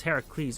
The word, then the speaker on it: Heracles: I mean, your pronunciation is completely wrong cuz it's Heracles.